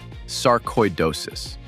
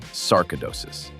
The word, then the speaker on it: sarcoidosis: The word is sarcoidosis, not sarcidosis. Sarcoidosis, koi, like the fish, except this version comes with specialists, scans, and a medical file that keeps gaining weight.